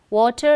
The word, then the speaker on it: water: Water, 2 syllable. Water is 2 syllable word, right? You have 2 syllable. Water, water. So, fetch a pail. So, these are all 1 syllable word. Jack and Jill went up the hill to fetch 1 syllabic word, right? Fetch a pail of water. Water is a 2 syllabic word, 2 syllable, water. So, wa is stressed, whereas ter is not stressed.